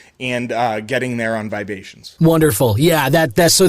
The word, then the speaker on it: Vibations: wonderful and uh listener vibration is spelled Vib a t IO NS like the vibe uh Asian there it is and uh yeah Ryan